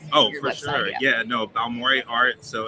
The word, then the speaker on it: Balmore: Yeah, no, Balmoré Art. So it's spelled like Baltimore with no TI.